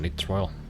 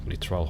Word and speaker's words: nitrile: It's pronounced nitrile. Not nitrile, hope it helps.